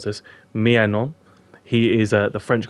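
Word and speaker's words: Maignan: mike and i've had to learn how to pronounce this myannon he is uh the french goalkeeper brought in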